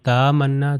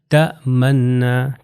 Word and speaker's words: تأمنا: یہاں پر یہ تأمنا، کہ الف کے اوپر جو ہے یہ حمزہ ہے اور حمزہ کے اوپر وہ سکون ہے، تو الف نہیں پڑھوں گا۔ اگر میں کہوں تامنا تو غلط ہو جائے گا، تأمنا، تأمنا۔ اگلی اگزامپل آپ